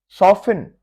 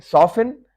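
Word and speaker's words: soften: सॉफिन, सॉफ्ट से सॉफिन। गिल्सिन, चमकाना किसी चीज को, गिल्सिन। रेपो, रेपो, इसमें टी साइलेंट है और आर का साउंड भी बिल्कुल हल्का सा आखिर में करना है, रेपो।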